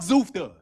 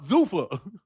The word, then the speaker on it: Zuffa: Fuck Zufta. Dude, that's not, dude. Zufta, I don't give a fuck. Zuffa. Zufta, I don't give a fuck about Zufta. Zufta, who cares? Nigga, that's a mispronunciation.